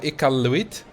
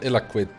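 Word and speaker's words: Iqaluit: old capital i think now ika luit not not illiquid uh it i'm probably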